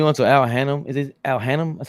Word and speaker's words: Al Hannum: you put me onto Al Hannum, is it Al Hannum?